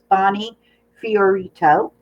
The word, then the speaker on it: Fiorito: She actually wrote it out phonetically for me. So it's Bonney Fiorito.